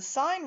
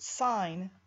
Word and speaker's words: sine: And this is abbreviated SIN, but we pronounce it sine instead of sin. This is not sin, this is sine.